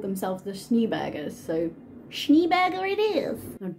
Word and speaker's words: Schneeberger: this town lived a lovely family called the schneebergers now i did look this up because holland being located next to germany my brain was thinking isn't this pronounced schneerberger but i looked up and they called themselves